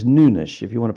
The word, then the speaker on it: Nunes: By the way, it's not Nunes because he's not Spanish. He's not a Spanish speaker. It's Nunish if you want to pronounce his name properly. Um Matias Nunes at right back for Manchester City.